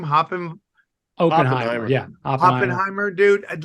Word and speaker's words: Oppenheimer: all and like hopping what how do you pronounce his name hopping yeah Oppenheimer dude I'd like how dramatic he talks in